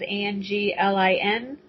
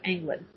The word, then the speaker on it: Anglin: It's with a Z, and Anglin is Anglin. Like if you were going fishing and you left the G off, Anglin.